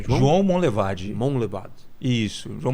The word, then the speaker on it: Monlevade: João Monlevade.